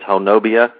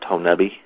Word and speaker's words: Honobia: map it's in and try to pronounce it phonetically it's it looks like it says honobia uh believe me the locals will let you know that it's pronounced tonabi that's how they tell if you're from out